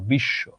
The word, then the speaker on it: বিশ্ব: শব্দের মাঝে কিংবা শেষে যখন ব ফলা থাকে, তখন ব ফলাটার এই মানে বটা উচ্চারিত হয় না, কিন্তু কি হয় জানো, ও যেই বর্ণটার সঙ্গে আছে সেই বর্ণটা দ্বিত্ব হয়, মানে এটা দুইবার উচ্চারণ হয়। যেমন ধরো এখানেও আছে তালব্য শ এর সঙ্গে, তালব্য শ দুইবার উচ্চারিত হলো বিশ্ব।